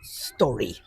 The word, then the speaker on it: Storry: that really, technically speaking, the correct pronunciation is the short vowel sound. So really, it should be pronounced Storry.